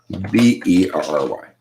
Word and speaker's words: Berry: And then her last name is spelled with an E. Berry. Just like the fruit.